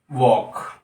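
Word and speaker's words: walk: यह हो जाती है वॉक इसमें एल है जो साइलेंट होता है डब्लू ए एल के एल साइलेंट होता है वक वाह पापा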